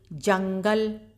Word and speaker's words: जंगल: यहाँ पर है ये जंगल, अब यहाँ भी ये अनुस्वार की मात्रा लगी हुई है, यानी अनुस्वार की बिंदी, अंग की बिंदी जिसको बोलते हैं, तो इसको भी जहाँ जहाँ ये बिंदी देखिए वहाँ उसको नाक से इसका उच्चारण होगा, जंगल।